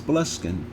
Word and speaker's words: Boleskine: The manor, which was the prophet's home at the time, is usually known simply as Boleskine, which is pronounced Bol Eskin.